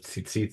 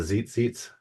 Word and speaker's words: tzitzit: I understand how people have, but I understand is, I have a friend who instead of tzitzit says the zit seats. So, right. So it's, I guess in some English pronunciations, that's difficult to pronounce.